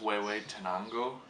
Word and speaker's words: Huehuetenango: gets to us this is from Guatemala it's way wayi Tango it's how you say it um so kind